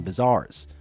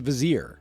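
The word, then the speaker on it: vizier: And you already know that we got a ton of scheming bizars. Vizars. Vizars. How do you say that word? Wow, that's really embarrassing. It's a vazier.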